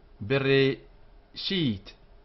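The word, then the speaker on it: בְּרֵאשִׁית: There are three vowel sounds in this word. The short e sound, bereshit, like the e in below.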